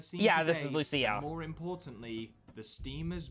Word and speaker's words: Lucia: baseballers on the scene Yeah, today, this is Lucia. and more importantly, the Steamers' biggest rival. Will Pipe and his friends really be able to overcome Lucia's baseball team? It's pronounced Lucia, but I'll give it a pass.